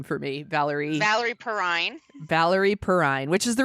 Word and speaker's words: Valerie Perrine: Can you pronounce her name for me? Valerie Perrine.